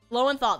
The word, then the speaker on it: Lowenthal: Lowenthal.